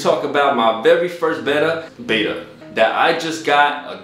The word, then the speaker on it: betta: Betta fish. All right. Fish. Okay. Betta. Betta. That'd be not it. Betta. It looks like you can pronounce it betta or betta, so I'm gonna stick with betta.